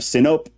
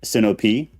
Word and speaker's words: Sinope: So Marcion of Sinope, some pronounce it Sinope. The majority, from everything I know, is Sinope.